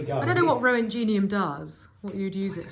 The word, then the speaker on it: Roentgenium: Apparently it's called Roentgenium. Roentgenium? Roentgenium. There we go. So there we go. I don't know what Roentgenium does, what you'd use it for.